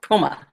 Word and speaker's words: Puma: That's how we pronounce it, Puma.